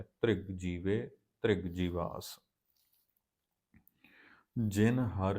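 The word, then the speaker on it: ਧ੍ਰਿਗ: त्रिग जीवे त्रिग जीवास इन तिग नहीं पढ़ना रारा पैर च आप उच्चारण सदा पैर विचों ही करना है त्रिग जीवे त्रिग जीवास जिन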